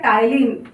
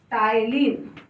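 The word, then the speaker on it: ptyalin: जिसका दूसरा नाम होता है टाइलिन। पी साइलेंट होता है, ध्यान रखना, टाइलिन।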